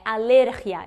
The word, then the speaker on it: alergia: deixa nos cards mas se fosse querer no português alerhia né no caso de fala alergia mas eles foram alergia seria o acento no i' como economia mas não não tem o acento então é alergia Então eu tenho que